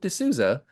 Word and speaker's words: D'Souza: it makes it so easy to like pronounce phonetically. So it's Jason D'Souza will be our guests for our live Piercing Wizard podcast at the UK APP conference.